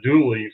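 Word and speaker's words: Dula: Well, that is the proper spelling is Dooley, but for some reason I don't see the connection. I don't know how they got Dooley from Dooley, and so Dr.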